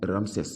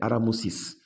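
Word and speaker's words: Ramsès: présentent comme aramosis c'est-à-dire ramsè ils disent ramsè mais je vous ai dit que la vraie prononciation c'est aramousis et ce ce ce ramsè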